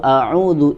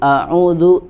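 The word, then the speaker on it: أعوذ: Kemudian yang selanjutnya adalah wa hamzah, ya, wa hamza alhamdu a'udhu ihdina, Ya, di sini yang diperingatkan oleh Al-Imam Ibnu Al-Jazari itu adalah pada huruf hamzah, ya, pada huruf hamzah pada kata alhamdu, a'udzu, ihdina, kemudian di bait selanjutnya Allahu.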